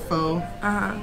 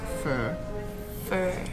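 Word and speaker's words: phở: drinking Bennet right hmm a lot of people call it pho but apparently the correct pronunciation is fur and it's like a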